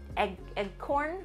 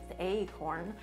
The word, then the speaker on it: acorn: england i i think half my life i've pronounced it egg corn which i believe is in the webster dictionary